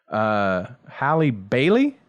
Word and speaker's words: Halle Bailey: And then the other thing I was going to mention before we get out of here, Halle Bailey?